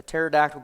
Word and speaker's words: pterodactyl: Okay, and why can't you hear a pterodactyl going to the bathroom? Why? Because the P is silent.